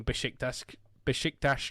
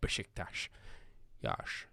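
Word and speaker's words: Beşiktaş: love saying the name bishop desk dash because it makes me sound like sean connery even though that is the correct pronunciation of bishiktash me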